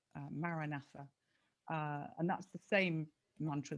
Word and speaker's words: Maranatha: again is it's a four-syllable Maranatha, and that's the same mantra that's given to everybody.